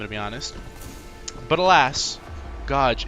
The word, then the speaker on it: Gauge: G-A-U, Gaw. You know, Gaw. Gauge. Gauge? Where do you see age written? It's not written. It's not like. What is bro saying? That's not how you say it.